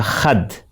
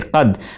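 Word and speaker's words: قد: You hear him pronounce Meri shohrat ka khad for qad. In standard Urdu, we will say qad, which means the height or stature of popularity.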